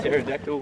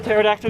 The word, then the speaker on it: pterodactyl: Did you hear the pterodactyl one? No. Mike? Why can't you hear the pterodactyl go to the toilet? Why? Because the P is silent.